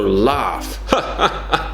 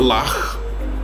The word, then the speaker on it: laugh: so laugh laughs laughs so it's not luck well then actually I think people in Liverpool might say it like that that's an exception laughs laughs so it sounds like an F right the GH can